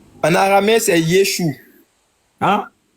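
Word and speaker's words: ישוע: En aramé c'est Yeshou hein. En aramé c'est Yesou. OK. Attends, je vais te montrer si c'est le même nom que j'ai ici là. Voilà. Y E s H. Oui.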